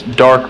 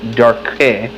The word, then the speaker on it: Darque: is that he is it's Dark Legacy, and it's spelled DARQUE, so Dark Legacy.